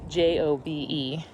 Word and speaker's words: Hobe: The name Hobe Sound originated from the Spanish pronunciation of Hobe as Hobe. So Jobe was.